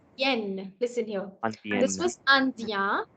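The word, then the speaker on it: indienne: This was andien. IEN is ien. But when you have NE again, it becomes the n complete sound, and hence you're going to pronounce it not as andien anymore, but as andien.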